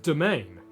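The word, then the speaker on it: demesne: So, it's just a really really weird way of spelling domain, but it's actually pronounced domain.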